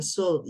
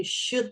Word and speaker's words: should: Sekali lagi jangan sold. Sold bukan tapi should ya guys.